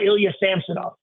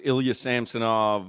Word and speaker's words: Ilya Samsonov: I didn't bother anyway it's now Ilya samsonov so that's his name all right so we're all in agreement Crowder Solana it's Ilya samsonov and that's what we